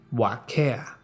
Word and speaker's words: Waka: talking to two imaginary friends named Alma and Waka he pronounced it what care he spoke to them most days for about